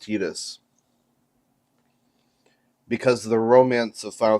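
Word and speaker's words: Tidus: Also, for those of you who aren't aware, it is pronounced Tetus because the romance of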